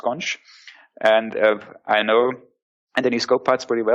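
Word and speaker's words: xonsh: an empire yeah yeah there's the experts pronounced conch and I know and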